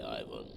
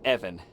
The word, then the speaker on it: Ivan: You might have saved my life today, so ask away, Ivan. Uh, Evan, it it's it's pronounced Evan with a short guttural.